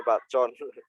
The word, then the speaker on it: Bacon: Kita bacanya Bacon.